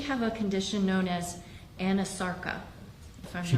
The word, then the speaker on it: anasarca: examiner, did she have a condition known as anasarca? If I'm She not did. mispronouncing it. No, you're pronouncing it correctly. She did have a condition called anasarca.